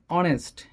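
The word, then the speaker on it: honest: যেমন অনেস্ট, এখানে এসের উচ্চারণ সরয় আসছে, সরয়, সেক্ষেত্রে হবে এন, অনেস্ট।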